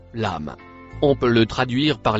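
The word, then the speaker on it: لم: Le mot marron se prononce lame.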